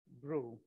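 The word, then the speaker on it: BRUE: say because should we should you call it brew or brew or so just that it is pronounced as brew all right so brew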